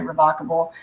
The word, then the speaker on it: revocable: Britney's case, and that's People pronounce this word differently. I'm originally from, Louisiana. So this word looks like revocable to me. Sometimes you'll hear people say revocable. It depends on where you were trained and educated and stuff like that.